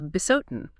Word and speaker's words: Bisotun: eventually it settled as Besotin. The article specifically notes it's pronounced as one word.